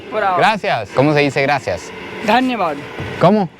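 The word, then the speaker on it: धन्यवाद: Dhanyavad. ¿Cómo? Dhanyavad.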